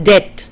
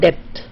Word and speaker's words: debt: Then the B is silent, so it's debt. It's not debt.